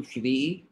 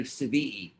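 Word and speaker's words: שביעי: How do you say seven in Hebrew? Shvi'i. But you can also say Svi'i, because if you don't have any dots, the shin can turn into a sin.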